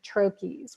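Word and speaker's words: troches: we need that additional support mostly I recommend trachis which is spelled TR o CH es and these are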